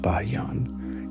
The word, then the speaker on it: Bayan: Generals like Bayan, pronounced Bayan, used overwhelming force and advanced siege techniques to slowly erode the Song defenses.